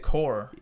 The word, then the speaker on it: corps: how about how about the joystick core o look at that mhm joystick corpse corpse that's what I was going for it's just silent P I like it uh